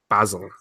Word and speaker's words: basil: It's called basil because that's what the herb is spelt.